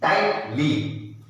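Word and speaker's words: tightly: तो क्या बचा, टी आई, टाई, फिर ये टी, ट, एल वाई, ली, ली, टाई, ट, ली, टाइट, ली, जी एच को बोलना नहीं पड़ा, लेकिन जब हम लिखेंगे तो GH लिखेंगे.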